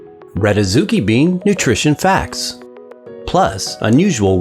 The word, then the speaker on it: adzuki: Pronounced Adzuki, its name comes from the Japanese language.